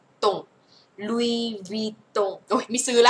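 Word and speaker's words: Louis Vuitton: ตัว ว เหมือน เวี่ยง เสียง ไป ว ตง ลุว ตง โอ ไม่ ซื้อ ะ ไม่ ซื้อ ไม่ ใช่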